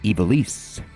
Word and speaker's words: Ivalice: My lifelong pronunciation of Ivalice is wrong. Good to know. Ivalice.